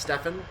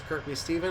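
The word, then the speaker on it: Kirkby Stephen: Kirk B Stephen I'm pretty sure it's not pronounced Stefan the CNS Stevens in North America we have a green signal so uh if I'm right this is Kirkby Steven of course named after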